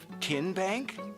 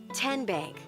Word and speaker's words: TNBank: Tin Bank? Uh-uh. So, what is it? Ten Bank. Ten as in Tennessee.